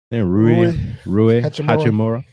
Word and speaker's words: Rui Hachimura: Rui Hachimura.